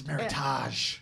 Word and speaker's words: meritage: it was um yeah we said meredith uh rhymes with with heritage and and it's meritage that's exactly what this